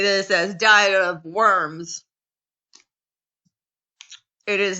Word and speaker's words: Worms: So Germans pronounce W's like these. Worms. Yeah. And saying Worms isn't, well, I don't know. That would definitely be, that is saying it with an English accent. Worms, like this, like you're disgusted, I guess.